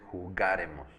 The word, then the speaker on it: jugaremos: La única que lleva acento es nosotros, que es primera de plural, y es jugaremos. Acento en ga.